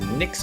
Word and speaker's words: Nyx: Your name is Nyx, pronounced like Sticks, the FiveVolt Magistrate of the Porsian Guard, an inventor of the XJ400 line of robots.